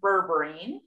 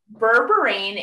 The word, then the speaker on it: berberine: hear something on the internet um and you pronounce it rightly said it's berberine berberine is a chinese herb and it is been